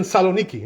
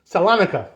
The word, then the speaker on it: Salonika: It says the Maharshdam, he lived in Saloniki, which was right in Greece, right? Exactly. So Saloniki, Salonika, right? In English, that's how you say it, right?